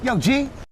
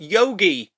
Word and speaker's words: Yogi: meet our protagonists, Yo G. Dude, how many times do I have to tell you my name is pronounced Yogi, not Yo G.